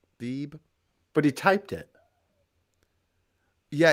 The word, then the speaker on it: Beeb: Yeah, it's Beeb. It's just one syllable. Beeb.